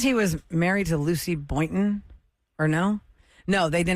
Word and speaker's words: Boynton: Boynton is how you say her name.